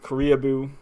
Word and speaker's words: Koreaboo: So weeaboo rhymes with Koreaboo.